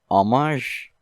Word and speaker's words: homage: It's it should be pronounced homage. Homage. It's a G. What? What even is that letter? Zh. There should be a new letter for zh sounds.